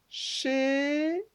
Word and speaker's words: chéri: Le dernier, c'est chez, et on voit que c'est écrit chéri. Il y a deux syllabes.